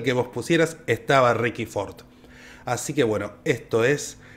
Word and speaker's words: Fort: una fragancia masculina que era Fordman by Ricardo Ford. Al comandante hay que pronunciarlo así, si no, no.